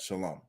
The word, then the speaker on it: shalom: We don't pronounce it. It's shalom.